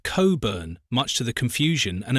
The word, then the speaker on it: Cockburn: But don't be misled by the spelling. It's pronounced Cobburn, much to the confusion and amusement of visitors.